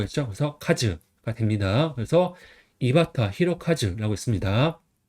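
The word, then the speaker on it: 井端弘和: 끝단은 바타, 클홍은 히로, 할화는 아까 전에 카즈라고 읽는다고 했죠. 그래서 카즈가 됩니다. 그래서 이바타 히로카즈라고 있습니다.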